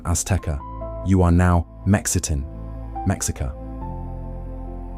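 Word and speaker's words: Aztēcah: The Nahuatl words Aztecatl, Nahuatl pronunciation Aztecatl, singular, and Azteca, Nahuatl pronunciation Azteca, plural, mean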